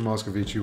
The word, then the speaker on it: Moscovici: Am I pronouncing that correctly? It's Moscovic or Moscovici, whatever you want.